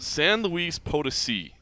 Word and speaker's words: San Luis Potosi: San Luis Potosi.